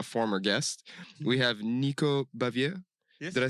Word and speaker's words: Baviere: partner of a former guest we have Nico bavier did I say that's how you pronounce yeah I'm very glad to be here